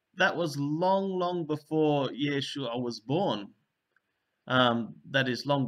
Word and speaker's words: Yeshua: And you'll see that it's a long vowel there.